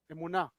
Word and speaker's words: אמונה: אמונה או אמונה? אמונה, in Hebrew actually, not with the Yiddish pronunciation.